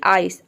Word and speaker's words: ice: तो देखिए किसी भी वर्ड में सी के बाद अगर ई आई वाई आ जाए तो सी को हम सिंपली स प्रोनाउंस करते हैं। जैसे कि आइस, आइस में देख सकते